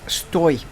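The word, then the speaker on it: стой: It's stoi. That symbol there is a glide essentially. It's pronounced oi, stoi, which is essentially an imperative form of the verb stay.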